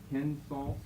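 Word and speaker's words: κῆνσος: Let's give us ourselves a short E. Kensos.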